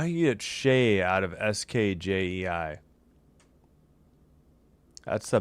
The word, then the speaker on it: Skjei: Is it Shea? All right, I guess by this it's Shea, right? All right, I'll go. How do you get Shea out of SKJEI?